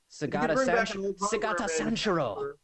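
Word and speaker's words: Sugata Sanshiro: Sega Tasha Nashiro, number 1. Oh, Sagata Sanshiro.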